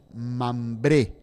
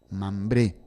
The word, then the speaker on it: Mambré: la admirable hospitalidad de mambré con m mayúscula y acento en la e mambré coma preludio a la